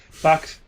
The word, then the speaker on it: Fox: I believe you mispronounced Fox a little bit there. A little emphasis on the O. It's all right. Okay. Fox.